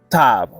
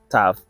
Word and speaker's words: Tav: saying from our letter tav um ta not tav ta that is the um pronunciation of the letter Tao.